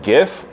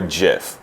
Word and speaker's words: gif: are either called a gif or a jiff which pronunciation is it that's just how I pronounce it I go with it I go as gif as well to me Jeff is peanut butter top-of-the-line about it okay